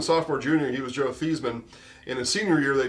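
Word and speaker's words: Theismann: guide a freshman sophomore junior he was Joe theeman in his senior year they changed pronunciation guide to say thyman and Theisman for Heisman ERS on the board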